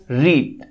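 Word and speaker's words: read: third form third form রিড রিডের third form হচ্ছে রিড রেড অর্থাৎ স্পেলিংটা একই থাকবে উচ্চারণটা হচ্ছে রেড উচ্চারণটা পাল্টে যাবে রিড রেড রেড বাই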